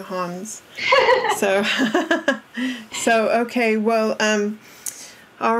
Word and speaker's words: Hans: And he even told us he likes the pronunciation Hans. I keep saying Hans.